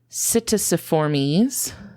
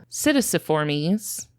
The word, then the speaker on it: Psittaciformes: I'm really struggling with this word because it has a silent P in it that's really throwing me off. That's fun. Yeah, it starts with the letter P, but you don't pronounce it.